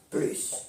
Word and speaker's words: plus: No delante de un adjetivo o un adverbo. No se pronuncia la S. Marie est plus jeune que Martine. Marie es más joven que Martine. Il marche plus vite que moi. Elle camina más rápido que yo. Si se pronuncia la S cuando plus de más nombre, le sigue un nombre.